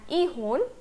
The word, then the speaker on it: 이혼: Okay, so the difference lies in the first syllable. 결혼 for marriage and 이혼 for divorce.